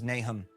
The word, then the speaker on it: Nahom: talking about nay home is it pronounced nahome yeah I mean you can we don't know how it was pronounced anciently okay the pronunciation guide in the Book of Mormon says nahm we have inscriptions that